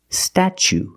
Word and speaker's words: statue: second or third syllable the t is pronounced like chicken and change so pronunciation statue statue for the first